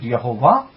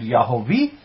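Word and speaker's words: YHWH: You may pronounce it Yehovah, you may pronounce it Yahweh, you may pronounce it Yahavah, or you may pronounce it as Yahweh.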